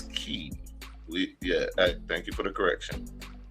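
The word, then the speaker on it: Kye: Esquire, attorney at law. Huh? It's Key. Key. Is that K-Y-E pronounced Key? Her name is Key.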